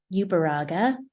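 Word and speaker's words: Uberuaga: for your time today my name is ubaraga it's a mouthful it's Basque and it's spelled u-b-e-r-u-a-g-a and I am a mother of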